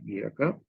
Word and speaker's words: Gierke: And Gierke is Gierke, pronounced Gierke. Some people say Gierke, that's also okay.